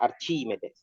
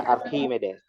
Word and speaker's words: Archimedes: kita baca Archimedes kan Kita orang Indonesia bacanya Archimedes tapi kalau orang aslinya baca arkimedes ya orang Yunani ya dia ini orang Yunani arkimedes Nah jadi eh ada